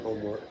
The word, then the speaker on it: HOMMEWRK: We got a chance to make 4 shoes with my brand Homework, HOMMEWRK.